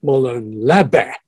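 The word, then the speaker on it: Μολὼν λαβέ: Now, that's the way the Greeks pronounce an ancient Greek phrase, Molon Lave.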